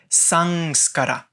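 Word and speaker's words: संस्कार: when you see Bindu in the middle of a word it will sound more likely like the English end so the following word which is written si Bindu ska RA will be pronounced son SCARA sung SCARA so the sound goes into the nose and at this end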